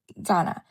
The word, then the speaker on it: gonna: So Ghana is actually is here written when people speak fast they often pronounce going to as Ghana for example what are